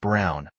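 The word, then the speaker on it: Braun: of the historical figure Eva Bron pronounced Brown wife of probably one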